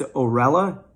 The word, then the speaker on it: OERLA: I'm not quite sure how to say it. I believe it's OERLA, but it's spelled O-E-R-L-A.